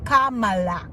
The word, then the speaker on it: Kamala: next president so learn how to say it Kamala Kamala president mhm somebody's just a little bit